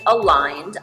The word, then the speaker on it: Aligned: So we call the company Aligned, although it looks like it's spelled a legend, which we will happily take as well. But it is aligned, and it's because of